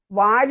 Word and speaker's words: വാലി: നമ്മളൊരിടത്ത് മാത്രം വാലി എന്ന് പറയണത് നമ്മൾ ബാലിനെ പറയുള്ളൂ. വാലിയാണ് ശരി, ബാലിയല്ല. പക്ഷെ നമ്മൾ വാലി എന്ന് പറയുകയില്ല, ബാലി എന്ന് പറയും.